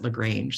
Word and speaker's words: LaGrange: minister of Education Adriana LaGrange and I think she pronounces it LaGrange sorry that's my French uh language coming in um and I most